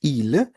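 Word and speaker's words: ils: So they in masculine is il, and they for feminine is elle. So there is an S, but we do not pronounce the S.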